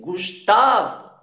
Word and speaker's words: Gustavo: Então aqui, a sílaba tônica da palavra Gustavo é tá. Você diz Gustavo, Gustavo, ok?